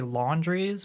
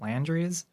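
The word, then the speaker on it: Landry's: south it's called landries on the outside you'd want to say laundries but it's actually pronounced landries when I say comfort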